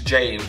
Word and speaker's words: James: And we have James Renner. I'm saying James, that's an Estonian pronunciation. It's James, of course.